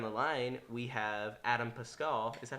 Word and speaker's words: Pascal: And so now, kind of continuing down the line, we have Adam Pascal.